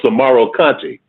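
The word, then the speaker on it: Soumaoro Kanté: But I know a brother told me that the correct pronunciation was Samaro Conte, and I think it was, if I can remember right, I know Conte is spelled Kante, and the first part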